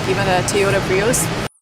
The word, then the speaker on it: Prius: When we link these two vowels, we hear y-y in the middle. Pre y Prius.